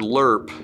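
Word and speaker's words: LRRP: 10th cav the word lerp is kind of a weird word the army does that with stuff it's pronounced l-u-r-p but what it really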